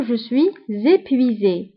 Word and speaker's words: je suis épuisé: فهنا كنقوموا بلا ليزون كنقولوا جو سوي زيبويزي.